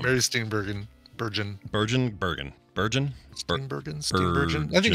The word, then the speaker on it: Steenburgen: Mary Steenburgen. Steenburgen? I think it's J. I think it's a soft G.